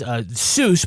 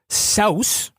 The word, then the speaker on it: Seuss: So his middle name is Seuss, but it's actually pronounced Saus.